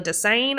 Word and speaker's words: Desseyn: Desane is spelled Desseyn.